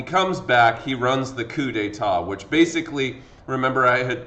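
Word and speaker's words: coup d'état: with the coup d'etat this is not pronounced coop dtat okay mr knight when did the coop detat um happen like it's it's coup d'etat brew mare uh the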